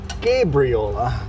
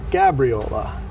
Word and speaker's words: Gabriola: I got lots of comments saying it's pronounced Gabriola, not Gabriola. So, Gabriel like the angel, not like Gabby. Gabriola Island.